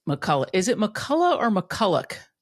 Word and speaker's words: McCullough: Is it McCullough or McCullough? Yeah, we say McCullough. It's spelled OCH, but it is just McCullough.